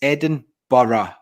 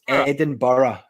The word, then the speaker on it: Edinburgh: It doesn't piss me off that much, but outside of Scotland, even in England, Edinburgh. It's not. It's Edinburgh. Like, you must have boroughs in America. Borough. So it's Edinburgh, but everyone calls it Edinburgh, and it's like, it's not how you say it.